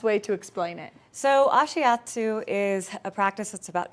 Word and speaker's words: Ashiatsu: I can't remember how to pronounce it. Ashiatsu. Ashiatsu.